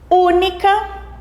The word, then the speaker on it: única: Única, única. A sílaba mais forte, u, também porque a sílaba u é composta apenas por uma vogal.